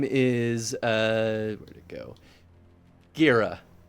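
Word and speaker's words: Gara: You could say this a lot of ways. I guess it could also be pronounced Gera. I like Gira. I like Gira. I feel like Gira feels right to me. I like Gira. Sounds cool.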